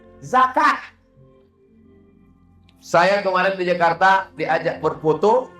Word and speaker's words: zakat: dilakukan, puasa telah dilakukan, zakat, zakat bukan zakar, zakat. Kemarin saya berada di Jakarta dan diminta untuk berfoto , lalu tertulis 'Duta Besar Zakat Republik Indonesia'. Alhamdulillah sejak Ustaz Somad menayangkan tentang zakat ini, banyak orang yang membayar zakat, Ustaz.